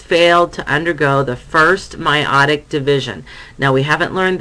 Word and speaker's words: meiotic: So before the first meiotic division, or meiotic, I'm sorry, no, I was right, meiotic division, that's how you pronounce it.